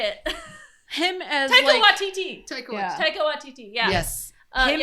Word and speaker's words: Taika Waititi: Taika Waititi? Yeah, Taika Waititi. Because remember, I couldn't say it. Him as Taika Waititi.